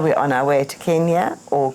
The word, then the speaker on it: Kenya: Well, from Tanzania, we're on our way to Kenya or Kenya or whatever you'd like to say. People call it anything nowadays. In fact, the correct pronunciation is Kenya according to local tradition.